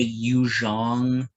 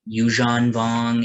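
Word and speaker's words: Yuuzhan Vong: me I'm not gonna I will never say you Zhang I can't even say it right you Jean vong it it sounds wrong to me it's Z it's a it's a z h there's no in the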